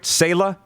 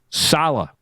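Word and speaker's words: Saleh: joe douglas and robert sayla am i saying it right sayla salah salah sorry and darnell theros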